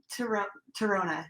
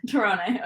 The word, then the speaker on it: Tirone: Tirone. Tirone, okay. Okay. Most people don't pronounce it correctly.